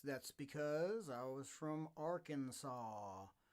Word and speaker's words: Arkansas: because i was from arkansas which is spelled the same way as our kansas but for some reason arkansas uh they leave that s off the back end of that so so there's that